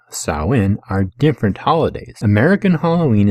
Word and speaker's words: Samhain: into halloween which is known historically as salween you know spelled out samhain but salween no dan as i will explain more throughout this video halloween and the modern celebration of saowin are different holidays american